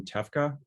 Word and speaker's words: TEFCA: if you could mention TEFCA and what are some of the different types of possibilities associated with that? Sure. I think so. The Trusted Exchange Framework and Common Agreement, which we pronounce TEFCA, is part of the